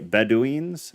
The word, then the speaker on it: Bedouin: Kando seemed to recognize the age and the value of the find, so he sent the Bedouins back to the cave.